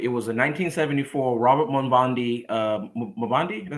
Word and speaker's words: Mondavi: It was a 1974 Robert Mondavi. Mondavi? Is that how you say his name? Mondavi. Yeah, Mondavi.